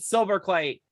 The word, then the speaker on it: Silberkleit: of the trust fun Jared silver clay hey Jared how are you I am doing great especially considering you did pronounce my name correctly which I can't say